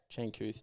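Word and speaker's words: Changkuoth: Changkuth Giath.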